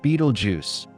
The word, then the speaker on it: Betelgeuse: Beetlejuice, pronounced Beetlejuice, Beetlejuice is no ordinary star.